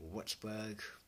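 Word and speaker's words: Würzburg: Top floor, radar, giant Wutzberg, that's how they pronounce it, but anyway, long story short, pardon me, radar is the key thing.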